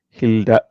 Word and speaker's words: Hilda: So it is Hilda. Hilda is the correct pronunciation.